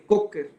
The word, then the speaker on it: Kocher: El abordaje para las fracturas de radio a través de la cara palmar se llama abordaje de Cocker, se escribe Kocher con K.